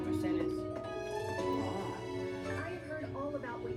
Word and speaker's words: Mercedes: Well, they pronounce it Spanish, Mercedes.